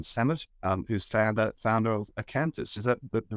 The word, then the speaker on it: Acanthis: their companies Dean Summit who's founder founder of acanthus is that the right pronunciation there yes it is great so I